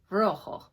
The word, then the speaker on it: rojo: is a J and the J in Spanish is pronounced like an H so it's ruffle everyone try that Rojo alright now yellow is